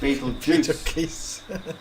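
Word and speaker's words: Betelgeuse: pronounce it Ryle serus Beetle geese pronounced Beetle Juice Elder Baron okay so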